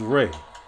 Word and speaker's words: Ra: of life and growth, which is pronounced as Re, as in the rays of the sun.